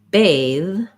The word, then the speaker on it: bathe: turn my voice on so when i say uh bath bath there's just noisy air that comes up versus when i say bathe bathe this th is a voiced th and it's the same th sound we have in words like them there that same mouth position but my voice is on another difference between